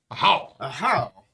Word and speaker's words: Ahau: And now we know how to pronounce the game name, which is a how ruler of the Yucatan.